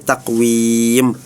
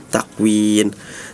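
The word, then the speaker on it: تقويم: Terus juga tadi ada di surah at-Tin fi ahsani takwim harusnya mim tadi dibacanya menggunakan nun fi ahsani takwin.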